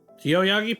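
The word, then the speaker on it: Yoyogi: Yoyagi Park.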